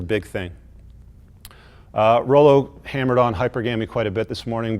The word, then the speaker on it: hypergamy: If you're going to be giving us a TED Talk on how the female brain operates and thinks, at least pronounce words correctly. It's hypergamy, you dumb, dense cinder block.